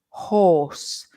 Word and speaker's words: horse: similar no no um look at my my lips Maria horse can you see that for the old are horse my my lips are round horse and H my